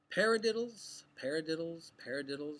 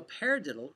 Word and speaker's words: paradiddle: So a paradiddle is a peculiar sounding word, but it's got 4 syllables. Paradiddle, paradiddle.